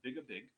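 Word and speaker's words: Beag air bheag: is mine is, well, it has a Gaelic title, and that is pronounced Big a Big, and what that means is little by little.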